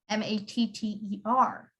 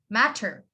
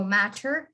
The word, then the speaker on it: matter: pronouncing the word matter m-a-t-t-e-r we don't pronounce the t normally you would say matter matter we don't go matcher actually and canadians do